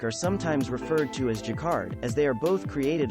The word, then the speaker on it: jacquard: that looks great in contemporary design schemes jacquard pronounced jacquard is an umbrella term for fabrics woven on